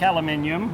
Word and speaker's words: aluminium: I don't like aluminium, or aluminum as Americans say.